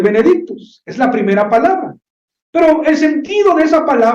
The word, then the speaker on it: Benedictus: el versículo 68 bendito en latín así se pronuncia el Benedicto es la primera palabra